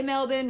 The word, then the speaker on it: Melbourne: Sydney and then three in Melbourne I say Melbourne because that's how they say it in Australia